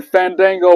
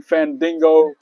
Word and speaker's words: Fandango: when Fandango was out and he was talking about people pronouncing his name the right way and Chris Jericho called him Fandingo, Fan Dumbo, Fandingo Dango. All that that promo was fire.